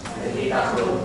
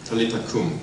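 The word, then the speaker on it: 탈리타 쿰: 달리다 네달 달리다은 어 아라머입니다.이 아라머 달리다음을 아라머의 그 원어에 가깝게 우리가 발음을 한다고 하면은 타리닷이라고 말할 수 있습니다. 어 저보다도 더 잘서 탈리다이라고 우리 다 같이 한번 해 보도록 하겠습니다.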